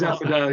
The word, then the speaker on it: Affordale: Is it Affordale? Affordale is what. It is Affordale, yeah.